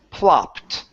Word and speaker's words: plopped: ending instead of pled okay this word is pronounced plopped plopped plopped great job okay so let's try